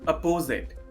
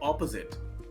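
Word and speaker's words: opposite: मैंने अक्सर लोगों को बोलते हुए सुना है अपोजिट। वेल, अपोजिट गलत है। करेक्ट प्रोनाउंसिएशन इसका होता है ऑपोजिट। ऑपोजिट एंड नॉट अपोजिट।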